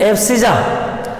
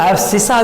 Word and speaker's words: abscissa: हिंदी में प्रोनाउंसिएशन होगा एब्सिजा, कुछ लोग एब्सिसा भी कहते हैं। एब्सिजा बोलो, एब्सिसा आपकी बात, मैं एब्सिजा बोलता हूँ, ABSCISSA, एब्सिजा।